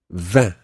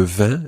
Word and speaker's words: vin: Vin. Vin. Le vin is wine.